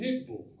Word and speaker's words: Hickville: they've been there, they would know that we pronounce it Hickville.